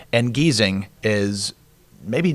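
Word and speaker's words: Giesing: the German language you the first vowel after the consonant is silent and you pronounce the next one say that before so like g i e ignore the I pronounce the E so geesing and then like you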